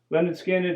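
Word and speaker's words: Lynyrd Skynyrd: skinned did not disappoint their first album of course is pronounced lonard skinned a classic debut album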